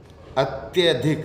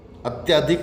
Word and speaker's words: अत्यधिक: अत्यधिक या अत्यधिक, अत्यधिक सही है, अत्यधिक नहीं, अत्यधिक।